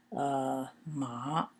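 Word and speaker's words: 骂: and it means ma it's pronounced ma in the fourth tone it means to scold so sometimes as I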